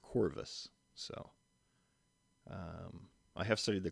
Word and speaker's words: Corvus: there on the screen that would have been pronounced a little more softly we think with the ancient Romans so they would have said something a little more similar to chorus instead of Corvus so I have studied